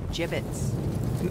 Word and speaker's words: gibbets: out of here hey look Avery had some gibbets left over jibbitz what it's pronounced jibbitz are you sure yeah well no one likes